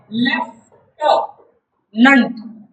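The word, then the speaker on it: lieutenant: Left नंट असं असायला पाहिजे की नाही उच्चाराने. बघा याचा उच्चार आहे लेफ्टनंट.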